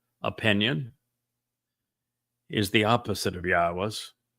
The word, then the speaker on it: Yahweh: But since your opinion is the opposite of Yahweh's, it's obvious that you speak for the very religion God despises. Ask yourself, why was I able to ascertain that Yahweh is the proper pronunciation of God's name and prove it?